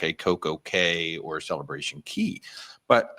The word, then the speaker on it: Cay: Yeah, it's pronounced Key.